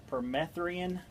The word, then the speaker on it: permethrin: Permethrin, that's how you say it.